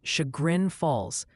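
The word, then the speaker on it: Chagrin Falls: Multiple viewers are insisting Shagrin Falls is pronounced Shagrin Falls.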